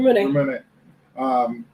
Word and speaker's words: Ramune: Ramune.